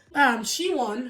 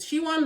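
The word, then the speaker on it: Si-won: She-won, because that's how they pronounced it. She-won Lee is a South Korean actress.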